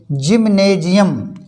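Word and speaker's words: gymnasium: जब किसी शब्द में जी के बाद बाई आए या हो तो जी का उच्चारण जा होता है। जैसे जी बाई, देखिए जी के बाद बाई आया है, जी बाई MANIUM, जिम्नेजियम। इसको बोलते हैं जिम्नेजियम, मीन्स व्यायामशाला।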